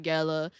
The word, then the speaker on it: Gella: Gella. For the longest, I've been mispronouncing his name. I've been saying Mr. Gayla.